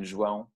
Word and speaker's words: João: That's how we say my name, João. Yeah, it's the same sound.